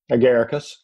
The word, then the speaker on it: Agaricus: I'm going to see if I pronounce this correctly. Agaricus mushrooms? Agaricus.